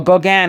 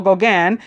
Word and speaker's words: Gauguin: Or Gauguin, I think it's pronounced. It's a French name.